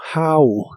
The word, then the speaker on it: how: Y usarás el interrogativo how, que significa cómo. La H se pronuncia como una J suave de español y la O de esta palabra se pronuncia como A.